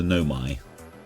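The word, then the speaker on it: Nomai: race known as the Nomi, which I realized. There's my little pronunciation. I've been calling it Nome, I think, or something. Nomaya or something like that.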